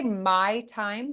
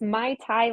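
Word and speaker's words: Naitie: platform did you say my time like this is my time uh that would be great but it's my taii like the drink but it's spelled different so n a i t i e production so my my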